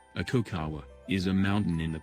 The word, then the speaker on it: Aconcagua: Sir George Everest despite Everest subjection z' aconcagua Spanish pronunciation a cacao WA is a mountain in the principal Cordillera of